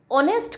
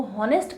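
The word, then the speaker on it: honest: सो जो ऑनेस्ट है ना, वो ऑनेस्ट का प्रोनाउंसिएशन जो रहता है वो ऑनेस्ट में ही आएगा आपका, वो हॉनेस्ट करके नहीं आएगा।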